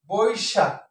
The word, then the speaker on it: বৈশাখ: বৈশাখ, ঐকার যদি থাকে তাহলে আমাকে, যেহেতু কার চিহ্ন আছে, তাহলে ও আর রস্যই হবে বই শাক। বৈশাখ, এটা বদ্ধাক্ষর, বই আর শাক, ঠিক আছে।